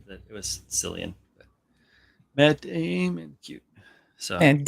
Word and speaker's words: Cillian: It is spelled with the hard, or it is pronounced with the hard K, the hard K sound. I'm tired of Cillian Murphy?